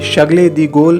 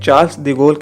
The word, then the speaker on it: Charles de Gaulle: Paris, the name of the airport here is pronounced Charles de Gaulle in French and it is called Charles de Gaulle in English, you will have to take a